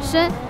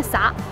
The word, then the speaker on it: 糁: 这个字在汉语词典里面念深，但是咱们山东都念洒。